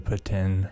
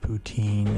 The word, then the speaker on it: poutine: I mean, I guess our most cliche, classic Canadian snack would be the poutine or poutine, if you want to say it like you're from the east side of Canada or west side.